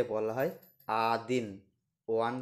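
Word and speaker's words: один: knoll knoll মানে zero one কে বলা হয় আদিন ওয়ান কে বলা হয় আদিন আমার সাথে উচ্চারণ করুন আদিন আদিন টু কে বলা হয় দোভা দোভা দোভা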